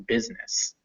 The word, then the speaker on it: business: it's pronounced e and business where it's written but it is not pronounced at all the i is silent in business it is almost always